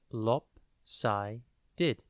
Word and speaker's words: lopsided: lopsided it is pronounced lopi did and spelled l o p s i d e e d think lop and then sided before we get into